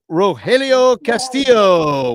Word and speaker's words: Rogelio Castillo: Here's Rogelio Castillo. Welcome to the Bleacher Bunch. Am I saying your name correctly? Yes, you did. You pronounced it perfectly, and thank you for having me on.